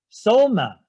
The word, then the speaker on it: soma: means what mind so and spirit uh somatic soma in greek s-o-m-a it corresponds to body so